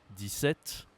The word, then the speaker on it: un: Commençons par les nombres de 1 à 20. Tu peux répéter les nombres après moi. Premier nombre. 1. 1. Attention ici à la prononciation. Tu dois utiliser ton nez pour bien prononcer ce chiffre.